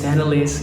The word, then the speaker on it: Tennalis: If you're new to the channel, my name is Tenelisss, which is really easy to pronounce. For Indonesian friends, my friend from Indonesia, you can just call me Tenelisss, something like that.